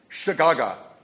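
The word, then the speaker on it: שגגה: It's actually pronounced like this. I thought it was classic. Shagaga.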